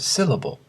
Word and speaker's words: syllable: For example, the word syllable has 3 syllables, do-do-do, and the stress syllable is the first, syllable.